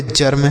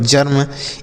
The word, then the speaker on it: germ: तो बच्चों अगर ई के बाद आर रहे तो इस ई का जो उच्चारण होगा वह किसके रूप में होगा? आ के रूप में होगा। आगे बच्चों समझ में?